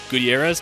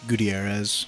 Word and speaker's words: Gutierrez: I mean, you can roll your R's. Gutierrez. Gutierrez. I don't roll my R's enough to... It's okay, you can't go wrong. I just say like Gutierrez.